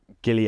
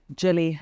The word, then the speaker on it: Gilli: many names incorrectly you get my first name wrong actually Gilly Jilly Jill Jillian is is Gilly full name yeah then Gilly yes if it was like